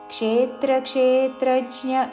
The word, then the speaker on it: క్షేత్రక్షేత్రజ్ఞ: స్థావరజంగమం సత్వం స్థావరజంగమం క్షేత్రక్షేత్రజ్ఞసంయోగాత్ క్షేత్రక్షేత్రజ్ఞ కాదు రెండు క్షేల మీద రెండు త్రాల మీద ఆఘాత పలుకుతూ క్షేత్రక్షేత్రజ్ఞ సంయోగాత్ అనుస్వారము నాసిక